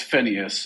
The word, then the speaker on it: Phineas: Is it Phineas or Phineas from Kansas? How do you pronounce that? Hi, David. It's Phineas.